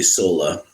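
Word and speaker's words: Sölle: There's a book by Dorothy Sola. That's spelled Soelle.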